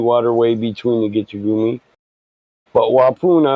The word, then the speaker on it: Waupun: They pronounce it Wapoon, Waupun, but yep, that's where the prison's at.